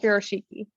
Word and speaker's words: Furoshiki: I pronounce it just like that, Furoshiki.